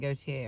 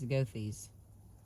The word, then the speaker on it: Goethe: Now, I was saying Gautier earlier, but it is not. It is Goethe's, or some version thereof, because I looked it up, and I was saying it wrong in the other chapters, but I'm not going to re-record them.